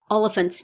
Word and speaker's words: Olyphant: podcast was useful for learning how to pronounce Timothy Olyphant name that's right big rhymes at the elephant quite a lot of